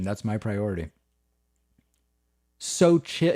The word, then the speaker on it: Xochitl: So chill. It's like so chill, but so chill.